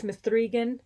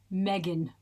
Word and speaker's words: M3GAN: You if you put those letters in, I'm going to pronounce all of them. It's Mithrian and we'll and I stand by that. I will have you know the Wikipedia specifically says it is pronounced Megan unquote.